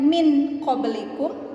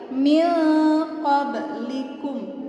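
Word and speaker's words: مِنْ قَبْلِكُمْ: huruf qaf ya jadi cara membacanya bukan min qoblikum bukan juga Miming koplik uh bukan juga mengimbau berikut akan tetapi Mi Kober likum didengung dan di samar Mindanau maksudnya didengung itu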